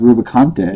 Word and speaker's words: Rubicante: but no I think the name is actually supposed to be pronounced rubicante yeah I think that's actually how it's supposed to be pronounced CU there is an e after the T which doesn't make sense with NT a nte you would pronounce that E I think it's very